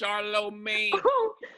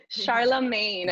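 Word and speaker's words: Charlamagne: different and you know i love how dominican women say my name it sounds like a spanish and hybrid dish charlomay charlemagne yeah if i do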